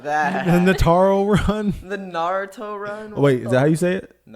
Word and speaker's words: Naruto: the I don't know Nataro about run? that. I No, don't know about that. the Nataro run. The Naruto run.